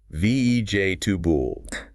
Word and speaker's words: vegetable: VEJ, tubul. 3 syllables.